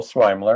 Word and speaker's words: Sweimler: are you are you my name is swiler and that's how you pronounce my last name it's a it's a